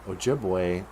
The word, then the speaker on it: Ojibwe: never mind how uh Dennis Banks wants to spell it Ojibwe is o j i b w e and